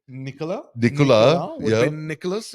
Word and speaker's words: Nicolas: Another thing was Nicholas, your name in French is Nicolas. Nicolas. Yeah. Spelled like Nicholas, but typically they drop the sound of the last letter.